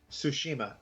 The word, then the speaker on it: Tsushima: Tsushima? Tsushima. The T is silent.